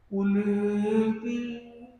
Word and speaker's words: कुलेति: आगे का क्रम सरल है, लास्ट में कुलेति में एस लगा है, तो खाली प्रतीकात्मक है कि यहाँ पे अ था, पर उच्चारण में उसमें कोई खास अंतर नहीं है। फिर भी अगर उच्चारण या याद रखने के लिए करना है कि यहाँ पे एस है, तब कुले के ए को थोड़ा बड़ा कर सकते हैं, कुलेति नैवं तु काच शकले किरणाकुलेति।